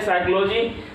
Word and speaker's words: psychology: अब देखिए साइकोलॉजी का स्पेलिंग क्या होता है? PSYCHOLOGY। इसको पढ़ते हैं साइकोलॉजी, जिसका हिंदी होता है मनोविज्ञान।